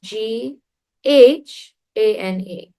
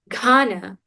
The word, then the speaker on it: Ghana: Ghana is spelled G H A N A. But we don't say Ghana.